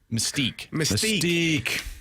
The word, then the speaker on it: Mystique: Mystique. This is how you pronounce it, man.